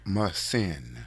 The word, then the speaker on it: Muhsin: Muhsin.